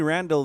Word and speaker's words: Randle: And, Eddie Randle, very lucky that his last name's Randle. It rhymes with handle, so he could have the nickname Too Hot to Handle.